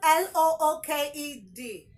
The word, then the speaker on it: looked: underlined letter e okay would you say looked because it ends with a D no the sound from the e is a t sound if I have option